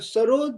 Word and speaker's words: सरोद: जी, जी, और सरोद जो है ये पर्शियन वर्ड है, जी, इसका मतलब है म्यूजिक, और जी, इसका प्रोनाउंसिएशन है सरूद।